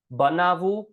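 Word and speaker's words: બનાવવું: So we have karvu becomes kar, khavu becomes kha, lakvu becomes lak, banavu, by the way, I know it's written banavavu, but it's pronounced banavu. It's how it's pronounced.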